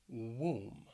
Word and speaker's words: womb: finally the word womb womb keep in mind that that o it really has that ooh sound womb we're going to talk